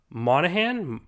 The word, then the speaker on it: Monaghan: He's actually he has a fiance named Julia, played by Michelle Monaghan. Monaghan. I believe the G is silent.